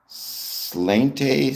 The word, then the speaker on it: sláinte: Slainte? Slainte? I can't pronounce it, but I believe that is the traditional Irish greeting. Oh, it's a cheers. It's pronounced slainte or slainte.